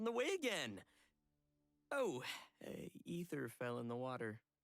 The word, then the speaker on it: Aether: way again oh hey ether fell in the water is it pronounced ether because I've always pronounced it Aether I don't know why